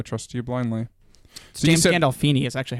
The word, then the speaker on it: Gandolfini: So James Gandolfini is actually how you pronounce it.